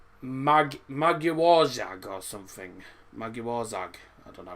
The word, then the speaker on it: Magyarország: How's it pronounced? Magyarország or something. Magyarország.